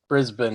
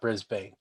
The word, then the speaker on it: Brisbane: And of course, it's because of Paul I know to pronounce it Brisbane and not Brisbane.